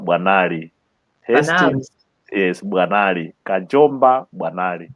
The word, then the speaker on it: Bwanali: Hastings Kajomba Bwanali.